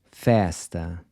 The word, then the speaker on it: festa: Festa. Once again, this is open.